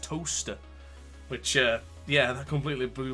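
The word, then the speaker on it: Towcester: I thought the town of Silverstone, where it is based, is a place called Towchester. Apparently it's not. It's actually pronounced Toaster, which, yeah, that completely blew my mind.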